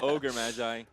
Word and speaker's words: Ogre Magi: Swim did a terrible job, but it is Ogre Magi.